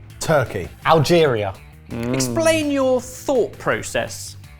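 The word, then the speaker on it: Türkiye: But then I remembered that Turkey's a really big place. Also, I think you'll find it's now pronounced Turkey.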